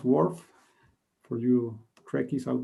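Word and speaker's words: WRF: logo first most important this is how you pronounce wharf for you track is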